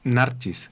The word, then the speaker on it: Narcis: ya está con nosotros narcis o narcis Cómo se dice correctamente como como en verdad sería narches en así que pues Ya